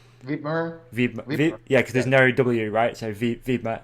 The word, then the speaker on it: Wibmer: Wibmer.